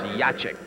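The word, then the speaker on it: Jaciuk: The name is spelled J A C I U K and pronounced Yachik. Neil Yachik.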